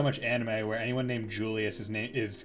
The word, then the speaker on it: Julius: anime where anyone named Julius is called Julius. Fucking ReZero. And I'm just like, wait, how do you say it again? It is a J. It is Julius. There we go. It's not Julius.